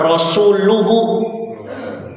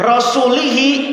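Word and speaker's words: رسولُه: Bacanya domah. Rasuluhu. Ya, itu berarti Rasul ikut-ikutan bersama lafaz Allah sebagai subjek pelaku. Kalau diartikan sesungguhnya Allah dan rasul-Nya berlepas diri dari orang musyrik. Tapi kalau dibacanya rasulihi itu bahaya.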